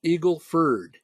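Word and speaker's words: Eagle Ford: it quite clear that that is pronounced Eagle Furd, not Ford Ken, Eagle Furd, by the people down in that area of the country.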